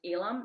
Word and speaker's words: Elam: I think you guys have one of the best cornerbacks in Elam. Is that how I pronounce his name? Mm-hmm. Elam.